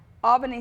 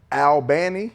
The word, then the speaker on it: Albany: I might be saying it. I know they get on me. You're saying it wrong. It's Albany, No, Albany you State. gotta go down there and check. They get on you. So they're telling you it's Albany? They say it's Albany.